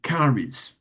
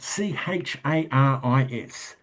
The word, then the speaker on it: charis: I am wishing grace upon you and specifically the Greek word caris. Now I'm pronouncing that caris even though it is spelled c h a r i s.